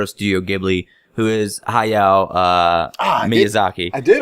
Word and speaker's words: Hayao Miyazaki: She's not as well known as the founder of Studio Ghibli, who is Hayao Miyazaki. I did not pronounce that name correctly.